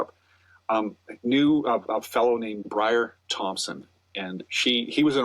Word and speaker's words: Briar: It's Brian? It's Brian? No, it's Briar.